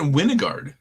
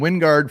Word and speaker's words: Wingard: I heard him pronounce it Winnegard. No. Yeah. It is not Winnegard. Who pronounced it Winnegard? So they're on CBS, and they're pronouncing it Winnegard. They said it wrong. It is freaking Wingard from Wyoming.